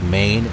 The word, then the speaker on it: Main: It's spelled like Maine, M-A-I-N, but I believe it's pronounced Main.